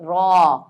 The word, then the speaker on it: ر: ये रे नहीं पढ़ेंगे हम अरबी में इसको हम पढ़ेंगे र यानी कि जब हम